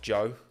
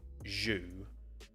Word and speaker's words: Zhou: You pronounce it Joe, not Zhu, as I've heard some people say.